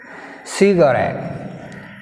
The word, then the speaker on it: cigarette: Cigarette, cigarette, cigarette, cigarette, cigarette. Here rat, r, ett came. Before ett letter r, we have stress on last syllable r.